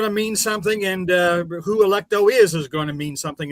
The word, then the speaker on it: Electo: See, it just sounds to me like you're mispronouncing Electro every single time. Yeah, well, yeah, but it's literally Electro with an A in the front of it, pretty much. Yeah, Electo without without an R.